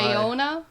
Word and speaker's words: Bayona: Bayona.